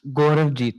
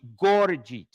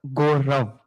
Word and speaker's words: Gauravjeet: You are you are pronouncing my name again wrong. Incorrectly? Yeah. Say it again. It's Gauravjeet, but it's easy. Gauravjeet, but I think Gurjeet. It's fine if you say only Gaurav.